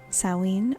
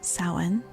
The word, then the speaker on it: Samhain: Samhain, spelled Samhain, but pronounced Samhain or Samhain, marks the end of the harvest and the beginning of the dark half of the year.